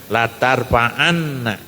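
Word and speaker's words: لَا تَرْفَعَنَّ: Tapi di sini ada nun di dikasih tasdid atau syiddah. Jadi bacanya latarfaanna dalam ee bahasa Arab itu namanya nun taukid sakilah.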